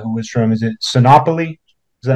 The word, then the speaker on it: Sinopoli: to Joe Rugnetta, who was from, is it Sinopoli? Is that how you say it? Yeah. The Rugnettas were from Sinopoli.